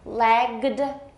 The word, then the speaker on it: lagged: Lagged, we add it's voiced, so we add a D sound.